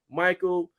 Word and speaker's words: Mychale: Nah, you butchered. Hey, so it's I've Michael.